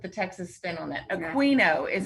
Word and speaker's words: Aquino: Aquino is how you say that.